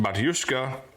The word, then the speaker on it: Batushka: mostly sprouting on the band camp platform uh pronounced batushka the band's cilic name means father and is